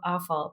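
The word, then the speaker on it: offal: If it's prepared well, I'll eat it, which I find humorous that it's called awful, but it's spelled o ff.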